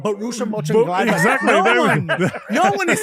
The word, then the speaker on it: Mönchengladbach: names to make it easier for us to pronounce? There's a club called Borussia Mönchengladbach.